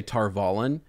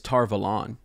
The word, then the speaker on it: Tar Valon: never brought this up um we often say tar vallen and i think it's tar velon just so you guys know like that's how